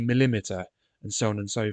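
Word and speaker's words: millimetre: it would be centimeter it wouldn't be millimeter it would be millimeter and so on and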